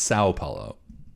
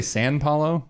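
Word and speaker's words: São Paulo: pronounced Sao Paulo. Did you say San Paulo?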